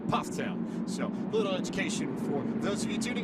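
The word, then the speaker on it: Pfafftown: from Ptown North Carolina it looks like paat toown it's pronounced Ptown so little education for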